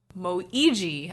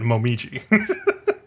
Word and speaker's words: Momiji: But yeah, then Moiji. I always have trouble with his name because I want to say Momiji. that is how you say it, Momiji.